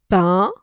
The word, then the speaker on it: pain: J'ai un morceau de pain. A-I-N se prononce un. Comme un.